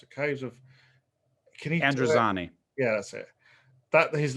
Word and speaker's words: Androzani: sarcastically, it was the caves of, I can't pronounce it, caves of, can you? Androzani.